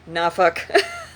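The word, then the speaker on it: Norfolk: l k we pronounce it suffk just like nauk even though it's spelled n o r f l f o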